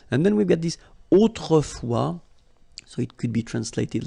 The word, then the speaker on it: autrefois: And then we've got this autrefois, so it could be translated like in olden days or in olden times, okay? Autrefois, so A-U, autrefois, final S not pronounced, okay?